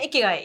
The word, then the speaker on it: ikigai: Is it called ikigy or am I pronouncing it? Yeah. Ikigay. Yes.